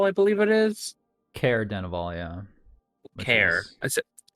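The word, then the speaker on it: Caer-Dineval: made it all the way up to uh sarah dennival i believe it is care denivole yeah care that's it you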